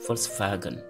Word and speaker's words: Volkswagen: C'est-à-dire le V se prononce également F. Ce n'est pas V. Il y a des exceptions, mais ici, au niveau de l'alphabet, ça se prononce F. Et dans la majorité des cas, c'est F. Comme VW, Volkswagen.